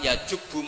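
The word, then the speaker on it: يجب: Itu bacanya bukan yajibu tapi apa? Yajubu ayaktau.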